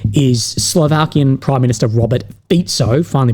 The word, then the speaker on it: Fico: But what we see is Slovakian Prime Minister Robert Fico, finally pronounced it right, and also the Hungarian Foreign Minister landed in China, I believe, this morning.